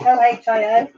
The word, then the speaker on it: Ohio: O-H-I-O.